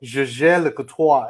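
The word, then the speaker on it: Jaeger-LeCoultre: Not Jaeger, it's Jaeger Le Coutoir. And then he was like, Jaeger Le Coutoir.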